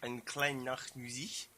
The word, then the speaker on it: Eine kleine Nachtmusik: Eine kleine Nachtmusik. There you go. That's much better pronunciation than me.